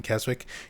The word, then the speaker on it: Keswick: You don't pronounce the W in Keswick?